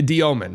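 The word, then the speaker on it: Dëmin: Is it the Diomin, right? That's how you say it? That's the correct Russian pronunciation.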